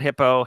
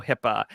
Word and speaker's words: HIPAA: Yes, that's how it's spelled. HIPAA. It's not hippo, HIPAA.